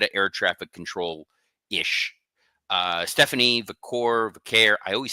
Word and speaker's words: Vaquer: Stephanie Vaquer, I always say it wrong. You got it. Second time's a charm. Second time. Yeah, Vaquer.